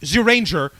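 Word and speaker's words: Zyuranger: Morphin Power Rangers with the Dino Rangers it's pronounced zuranger and Haim Saban heard Jew Ranger it's like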